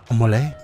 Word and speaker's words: Amole: Damn, look Amale. At this guy's armor. It's pronounced AMOLE.